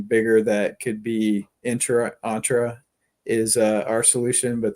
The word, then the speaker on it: Entra: team so many times so it's entra I keep on saying intra all right entra I'll remember that well no I corrected